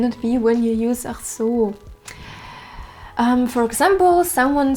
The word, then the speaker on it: ach so: Phrase number 9 is ach so, and this is the exact way how you should pronounce it. Ach so, so with this long so.